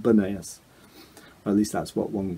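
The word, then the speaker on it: Banias: place is called bunnies because according to local folklore people were unable to uh to pronounce the letter p so they couldn't say pineap so they called it banayas at least that's what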